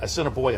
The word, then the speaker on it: Assiniboia: Claimed him down at Churchill, and then take him up to Assiniboia. Am I pronouncing that correctly?